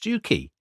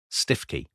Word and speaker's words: Stiffkey: The only thing that's pronounced Stuki is the local cockals, which are called Stuki Blues, but the people of the area call the place Stiffy.